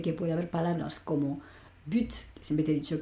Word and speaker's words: but: Quiero decir que puede haber palabras como but, que siempre te he dicho que es objetivo, portería, gol, ¿vale? Esa palabra, por ejemplo, la T, aunque habitualmente no la pronunciamos, en este caso sí la pronuncio.